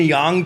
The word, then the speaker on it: yang: Isn't it yang? No, well, I think it's supposed to be pronounced yang, I believe. Oh. Like Chinese pronunciation.